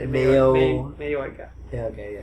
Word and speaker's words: Mayoiga: Mayoiga. Yeah, okay, yeah. Because the O and the I kind of blend together, so it's like Yoi.